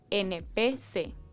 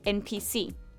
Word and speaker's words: NPC: PEC se pronuncia como una palabra, pero cuando los jóvenes dicen NPC, pronuncian cada letra, NPC, o como en inglés, NPC.